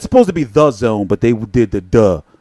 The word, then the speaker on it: DAZN: 90s discovery zone type market there but it's pronounced it's supposed to be the zone but they did the duh you know which